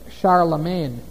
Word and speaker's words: Charlemagne: title he was called Charlemagne now look at that it looks like Charl Magne doesn't it Charlemagne that's the French pronunciation Charlemagne they don't say the G there okay looks like Charla